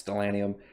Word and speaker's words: Stellanium: from Dragon Cry, Stellanium, I don't know if I'm pronouncing it right, I think it's Stellanium, I believe. I don't think it's Stellarium. I'm pretty sure it's Stellanium.